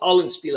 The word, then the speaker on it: Hollandspiel: So Hollandspiel, I was saying it right.